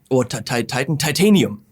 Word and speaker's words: titanium: Titanium. Not Titan. Why am I saying Titan? Because in German it's Titan.